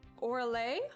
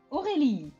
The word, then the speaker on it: Aurélie: Is it Orale or Orly? Aurélie.